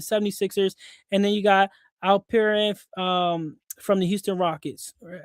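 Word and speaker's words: Alperen: Maxi from the 76ers, and then you got Al Perin um from the Houston Rockets.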